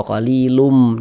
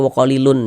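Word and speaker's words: قَلِيلٌ مِّن: Kita baca wa qalilum. Jangan dibaca wa qalilun, jangan.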